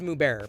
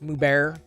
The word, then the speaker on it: Mubert: bear streamers mubarak streamers i want to say it's moo bearer but i've never really